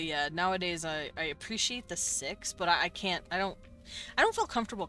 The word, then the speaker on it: Sikhs: Or the Sikhs, that's how you pronounce it.